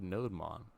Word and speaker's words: nodemon: tool we will use we'll call it add nodemon no demon because it's a Daemon background process